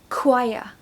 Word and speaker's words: choir: and cozy and let's begin number one choir choir this word is notoriously difficult to pronounce that's because the pronunciation is so different